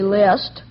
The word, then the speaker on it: Liszt: Say, I'm going to the grocer to see how he's doing in preparing my grocery list. List, Of course, that's spelled L-I-S-T, and the composer is L-I-S-Z-T.